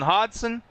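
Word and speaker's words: Hodgson: We are going to have Chase George, Christopher Mullins, Alan Dice, Nolan Hodson. That G is silent. I learned that.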